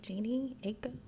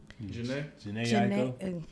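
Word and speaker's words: Jhené Aiko: I've been listening to how do you say her name? Jeannie Aiko. Janae Aiko. There you go.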